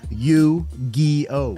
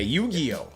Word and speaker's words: Yu-Gi-Oh: please correct me I'm old how do you pronounce that you Geo okay okay Yu-Gi-Oh okay okay yes all right Yu-Gi-Oh Yu-Gi-Oh cards